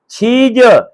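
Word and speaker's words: 치즈: लेकिन जब ए वावल जो है किसी भी कोरियन अल्फाज के एंड पे आएगा तो ये साइलेंट हो जाएगा, ये नहीं पढ़ा जाएगा। अब ये पढ़ा जाएगा क्या? चीज।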